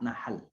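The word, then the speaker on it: نحل: Nahl itu bacanya mesti fasih pakai hak ya Bapak Ibu. Pakai hak Nahl. Kalau Bapak Ibu sebutnya pakai kho, apa yang terjadi?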